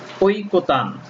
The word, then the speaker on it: ঐকতান: এরপর আসো ওই, ওই শব্দটি বানান আমরা ওই লিখতে পারবো, কিন্তু যখন উচ্চারণে লিখব তখন ও হ্রস্ব ই লিখতে হবে, ও হ্রস্ব ই লিখতে হবে। উদাহরণ ঐকতান, এখানে দেখো ওইটা আছে, বানানে বা মূল শব্দে ওই আছে কিন্তু উচ্চারণে আর ওই, এই ওইটা হয়ে গেছে কি ও হ্রস্ব ই, ওই,